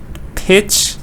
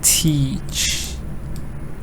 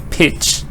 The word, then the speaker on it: pitch: Pitch. I just can give you the thing that it's not teach. Okay? It's not correct. Teach is long. This is short. Pitch.